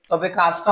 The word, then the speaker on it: ত্বক: এরপরে দেখছিলাম কি, যুক্ত ব্যঞ্জন বর্ণের শেষে ব ফোলা থাকলে তার উচ্চারণ হয় না। যেমন দেখো ত্বক, তয় বফলা ক, ত্বক, তাই না? এই ত্বক রে আমাদের এখানে কিন্তু ব উচ্চারণ হচ্ছে না, আমরা লিখতে পারি ত্বক ত্বক।